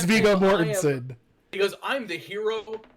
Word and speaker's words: Mortensen: Viggo Morgenstein.